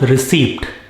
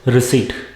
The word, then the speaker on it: receipt: california has lot of vineyards it is not received it is recede when you buy something you get a receipt